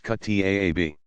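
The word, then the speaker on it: kuttab: a quran school called a Khattab pronounced cut taa be they might progress to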